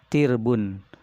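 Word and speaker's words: تِرْب: Ta'roba, nah, bacanya adalah bikasroti ta, dengan taknya dikasrohkan. Ti, kemudian wasukuni ro, dan disukunkan ro-nya, jadi dibacanya tirbun, ya.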